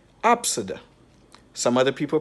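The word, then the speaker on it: Abcde: a child's name and the child's name is pronounced absida some other people pronounce it obesity let me give you another this is a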